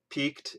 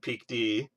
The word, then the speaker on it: PeakD: So we already covered the correct pronunciation of PeakD, saying that I like both of them, Peaked and PeakD.